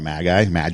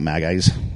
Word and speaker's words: magi: There were probably more than 3 kings, or actually wise men or magi. How do you pronounce it? Magi. Yeah, they were magi. Not magpie, not magis. Magis. Not the magis.